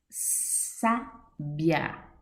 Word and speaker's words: sábia: Sábia, acento agudo no A, sábia. Sílaba tônica, sa, classificação, proparoxítona.